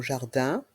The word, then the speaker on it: jardin: de jardin ici encore dans le mot jardin les lettres I et n font le son 1 jardin l'abri de jardin l'abri